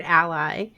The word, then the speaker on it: a11y: accessibility yes A1 Y which looks a little bit like the word Ally because a one looks like a lowercase L kind of so sometimes